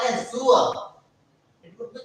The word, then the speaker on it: zur: Not Zul, it's loud pronunciation. It's Zur. Z-U-R. Z-U-R. The word is Zur. The word is Zur. We pronounce it as Zur.